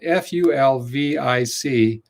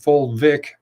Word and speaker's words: fulvic: key nutrients is called fulvic minerals which is spelled f-u-l-v-i-c fulvic minerals not folate not folic acid full vic minerals and there's there are